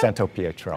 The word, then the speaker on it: Santopietro: I was saying it wrong. Santopietro? Yeah. Santopietro. Oh, very good.